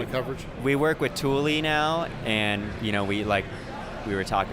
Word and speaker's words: Thule: Yeah, everyone's pronounce it Thule. Yeah, Thule. And it's like, no, it's Thule, guys.